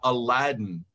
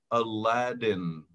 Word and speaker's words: Aladdin: Esa doble D se pronuncia como la R en español. Entonces, uh-huh, su nombre se pronuncia Aladdin.